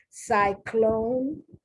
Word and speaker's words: cyclone: The C before the Y takes on the soft sound.